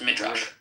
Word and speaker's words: Midrash: It is pronounced Midrash.